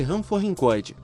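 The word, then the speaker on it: Ranforrincoide: assemelham ao aod actil são os hamf hincho pronuncia-se Ram forin coide caracterizados por possuírem boca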